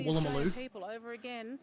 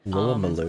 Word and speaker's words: Woolloomooloo: There is one called Woolloomooloo. Woolloomooloo.